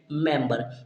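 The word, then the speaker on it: member: word आता है हमारा एम ई एम वी ई आर इसे हम क्या पढ़ते हैं मैम इसे हम करते हैं एम से एम ए से ई मा से एम तो यहां पर मैम हो गया और वा से वी और ई यहां पर के जो हमारा होगा क्या होगा साइलेंट रहेगा और र से आर तो इसे हम पढ़ेंगे मेंबर क्या पढ़ते हैं मेंबर पढ़ते हैं एंड यहां पर मेंबर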